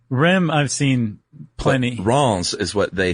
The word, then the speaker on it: Reims: But we even have a thing in here that says if you say Rennes, then you're an American city slicker. If you say Reims. Oh, okay. Rennes, I've seen plenty. But Reims is what they say in the Help Me Out article that we got.